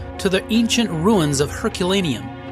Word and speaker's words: Herculaneum: In Italian, Ercolano. Ercolano. What do Americans call it, or English? Yeah, Herculaneum. Herculaneum.